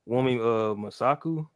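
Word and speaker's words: Wunmi Mosaku: I forget how to pronounce her name, bro. Is it Wumi? yes, Yeah, Wumi Masaku.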